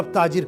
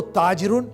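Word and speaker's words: تاجر: Actually standard Arabic में ताजिरुन लिखते हैं, लेकिन जब अरब आपस में या किसी से बोलते हैं तो वो ताजिरुन आखिर का प्रोनाउंसिएशन नहीं कुछ करते हैं, ताजिर।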